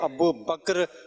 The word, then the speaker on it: ابو بکر: لوگ کچھ بولتے ہیں، صحیح تلفظ ہے ابو بکر رضی اللہ تعالی عنہ، آخر کا کاف اور را دونوں ساکن ہیں۔ میں بیسیکلی کے پی